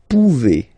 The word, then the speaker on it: pouvez: Then vous pouvez. Okay, classic ending as well for the vous form. A Z like that. Okay, remember you pronounce it e.